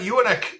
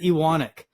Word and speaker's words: Ewanuick: Well, our family says it Ewanuick, and my dad years ago went up to Vernon. Because there's family in Vernon, and apparently we spell it and say it wrong. So I don't usually correct people because we might actually be saying it wrong.